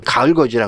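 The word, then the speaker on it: 가을걷이: 근데 이게 겉이가 구개어만 현상 때문에 디귿이 이를 만나면 지읒 발음이 나잖아요. 미다지문, 여다지문, 해도지 다 마찬가지죠. 가을 거지도 가을 겉이지만 읽을 때는 가을 거지. 예, 가을의 거지 아닙니다.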